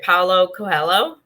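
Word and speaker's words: Paulo Coelho: by please let me know if this is pronounced right paulo cohello yes yeah okay where did you discover him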